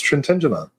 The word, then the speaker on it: Trentignant: I'm going to say Trentignant. Is that Is that proper? It's Trentenant.